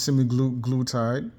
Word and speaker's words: semaglutide: You got a drug here, this semaglutide, or what is it called?